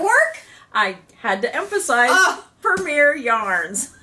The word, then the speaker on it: Premier: I had to emphasize premiere yarns. It's spelled P-R-E-M-I-E-R.